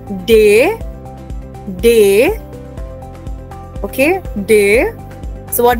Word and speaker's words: D: D is pronounced just like the English word day.